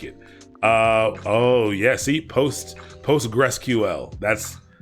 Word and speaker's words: Postgres: oh yeah see posts PostgreSQL that's PostgreSQL is what I say Postgres if you write Postgres I'm not pronouncing PostgreSQL like it's just Postgres I just say Postgres when it comes there